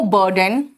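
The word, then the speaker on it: burden: There will be नो बर्डन on state governments. State governments, government है तो उसको क्या कहते हैं? Governments. There will be नो बर्डन, बर्डन बेटा यू का प्रोनाउंसिएशन यहां पर भी अ आता है।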